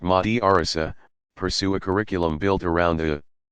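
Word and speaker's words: madrasa: in institutions called madrassas students in a madrassa pronounced Mahdi Orissa pursue a curriculum built around teaching of one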